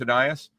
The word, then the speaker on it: Ainias: When they drafted him, I think we actually had a pronunciation guide, so we knew what it was. Yeah, we knew it was Aeneas.